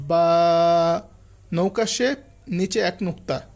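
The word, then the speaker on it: ب: তাহলে আমরা এটাকে বলব বা নৌকা শেফ। নিচে এক নুক্তা। হরফের হরফটা হবে বা বা এর উচ্চারণ হচ্ছে দুই ঠোট থেকে।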